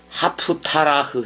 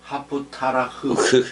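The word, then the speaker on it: haftarah: 파라샤흐라고 읽어. 율법서를 읽는 거. 그 다음에 이제 예언서를 또 읽어. 2부 때는 이사야서. 그거를 하프타라흐 해봐봐. 하프타라흐.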